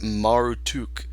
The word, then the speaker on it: Marduk: So basically, you have got this fertility god, but also he is known as Marduk, which, if I've read this correctly, it could be pronounced Marutuk, and he was first worshipped in the Babylonian region.